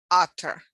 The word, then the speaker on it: utter: that in pronunciation when for example utter ut er you pronounce as other in english the two t's become basically pronounced as d so every language has